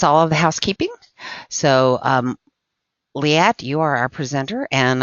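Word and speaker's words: Liat: I'm Li At. Li At rhymes with fiat.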